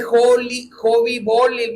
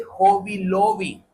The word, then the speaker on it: Hobby Lobby: No se dice Hobby Bolly, me dice mi esposa. Se dice Hobby Lobby.